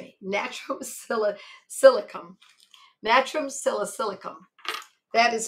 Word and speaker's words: Natrum salicylicum: Now there's another medicine called natrum silicicum. Natrum silicum. Natrum silicicum. That is spelled natrum, N-A-T-R-U-M, and S-A-L, sal, is silicum.